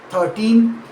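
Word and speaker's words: thirteen: In 13, the stress falls on the second syllable 13 with a second crisp final N sound.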